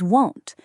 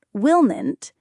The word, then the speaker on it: won't: It is not willn't, it is won't. For example, I won't forget your birthday, I promise. Ah, won't. It has that round O sound, like in the word go or home.